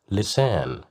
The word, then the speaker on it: لسان: Lisan, lisan, lisan, which means a tongue. Here we have the letter lam with kasra right below it, so that's why we pronounced it as li, lisan.